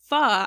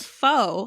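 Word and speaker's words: pho: pretty tasty I just learned that it's actually pronounced F I always called it foe I I call it foe still I made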